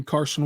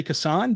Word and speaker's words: Cason: Cason, don't call me Carson Wallace. The pronunciation guide officially says Cason, by the way. So I'm going to try my best to stay with Cason. I more comfortably say Kasan, but I'm going to